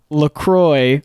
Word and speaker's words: LaCroix: on their website that it is pronounced Lacroix like enjoy as I believe the